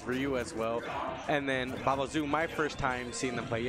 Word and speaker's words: Baobaozu: How do I pronounce his name? Baobaozu.